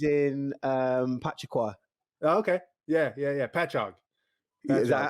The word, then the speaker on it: Patchogue: Patchogue.